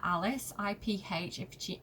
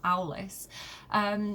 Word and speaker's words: Aulis: One of my favourite terrible examples of this is if you read, I'm probably going to pronounce it wrong, but Iphigenia at Alice, Iphigenia at Aulis, which tells the story of Agamemnon, he's kind of the king of kings, right?